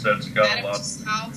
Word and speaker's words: Tussauds: Tussauds, I think is how you pronounce it, Tussauds.